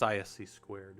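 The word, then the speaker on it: (ISC)²: No, they're not They're not a um And it's written ISC and then the number two. That's the way you'll see it. Um but it's it's ISC squared is how you say it.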